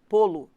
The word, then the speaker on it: polo: Repare que esse lo é pronunciado como se fosse lu.